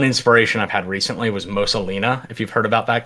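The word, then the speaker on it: Mosa Lina: I've had recently was Mosalina, if you've heard about that game. No, I haven't. How do you spell that? Mosa. It's like Mona Lisa, but backwards. Mosalina.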